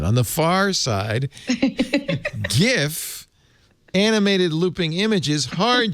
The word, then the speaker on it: GIF: normal label jif creamy peanut butter soft g pronunciation on the far side gif animated looping images heart g pronunciation and the